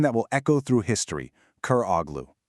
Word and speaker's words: Köroğlu: He casts off his old name and he takes on a new one, a name that will echo through history, Koroglu. It's pronounced Koroglu, and it literally means son of the blind man.